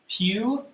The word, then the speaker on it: Puyallup: It is pronounced Puyallup.